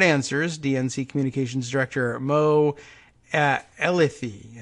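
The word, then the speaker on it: Elleithee: more questions and answers DNC communications director Moe Ella thei how am i pronouncing that ele i th ee Ella 'they said sorry mo he does not believe ours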